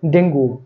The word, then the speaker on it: dengue: আমরা বলে থাকি ডেঙ্গু। ডেঙ্গু জ্বর বলে। বাংলায় ঠিক আছে কিন্তু ইংলিশে DENGUE এর উচ্চারণ হচ্ছে ডেঙ্গি। সঠিক উচ্চারণ হচ্ছে ডেঙ্গি ডেঙ্গু নয় তারপর আছে দেখেন DATA